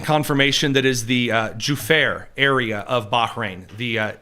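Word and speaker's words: Juffair: We're getting confirmation that is the uh Juare area of Bahrain. The uh Ju FF AI R for pronunciation, sorry. The Jair area of Bahrain that that apartment building was struck by an Iranian suicide drone.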